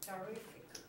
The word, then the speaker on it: terrific: Terrific. What? Nothing. Oh, okay. Terrific. Second syllable, right?